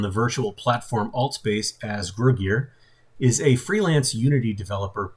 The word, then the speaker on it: Gruguir: Is that the correct pronunciation? Gruguir? Gruguir.